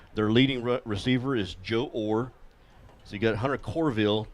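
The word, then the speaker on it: Orr: I know that or which is spelled o r r but pronounced or will be uh their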